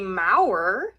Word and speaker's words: Maurer: I am here with Kimberly Mauer. Did I pronounce it right?